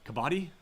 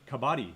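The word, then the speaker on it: Kabaddi: Uh, you know, you you find Now, I would add to this uh kabati.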